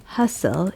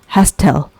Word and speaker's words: hustle: area is Hassel and Bessel the city is Hassel and Basel here I'm using these words with a silent sound of T we do not pronounce hastel we pronounce Hassel and Basel so it means